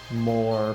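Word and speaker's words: 漏れ: More, pronounced more, like the eel, and written with kanji for leaking, which Takumi and Grimlock use in online chats.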